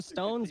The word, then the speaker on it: Stones: Something Stones, but the last S is silent, so it's just Stone.